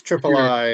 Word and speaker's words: Triple I: to pronounce triple i which i say triple i or is it triple e road is triple i it's triple i uh rather than the shores of tripoli um because it was